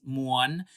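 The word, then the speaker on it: ມ່ວນ: So the word is muon.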